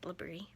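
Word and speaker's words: LBRY: the link that says labrie l-b-r-y it's pronounced labrie and click that link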